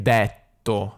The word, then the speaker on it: detto: che il ha allora questa è indetto è dovuta al fatto che il milanese prima di una doppia t si dice sempre è tipo stretto ho letto quindi lei dice detto quindi ma cos'è che